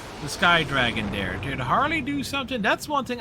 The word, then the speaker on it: Harle: to pronounce her name it's harley like as in harlequin uh holly give me